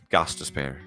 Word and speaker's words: Gostisbehere: pronounce it. Oh, you said it? Gostisbehere.